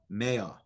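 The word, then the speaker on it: מאה: Al tikri ma ela mea. Do not pronounce the word ma as in what does Hashem, but rather mea, which is 100 Hashem asks of you.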